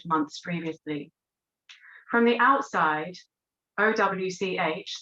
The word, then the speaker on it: Owch: previously from the outside owch the older women's co-housing project pronounced ouch looks like a normal